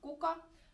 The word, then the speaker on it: kuka: Be careful with the singular K in this word.